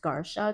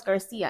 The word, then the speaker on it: Garcia: and they um she insisted that my last name was pronounced Gara cuz CI in Polish is with pronounced like a sh right right M and I'm like no it's Garcia and she would fight